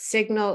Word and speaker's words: signal: That's signal. A lot of people get confused between signal and sign because we pronounce the G in signal.